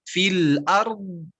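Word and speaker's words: في الأرض: Bisa cara latihan pertama bisa disebutkan dulu harokatnya. Fil ardi. Fil ardi. Nah, nanti setelah terbayang cara bacanya baru I-nya nanti hilangkan. Fil ard. Fil ard. Gitu.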